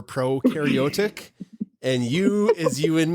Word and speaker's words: prokaryotic: will never forget forget pro rhymes with no for prokaryotic and you is you